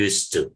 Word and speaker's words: used to: El ED aquí no se pronuncia porque como acá sí, el otro sonido es de una consonante, es de una T, por eso es que simplemente dice used to, nada más.